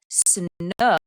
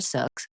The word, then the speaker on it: Snook: Sarah Snook, I just realized I've been saying her name wrong and pull it up. Not Sarah Suk.